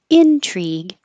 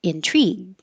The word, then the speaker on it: intrigue: two three intriguing and the noun you can pronounce either way Intrigue or intrigue but the verb you can only pronounce intrigue contradict contradict and contradiction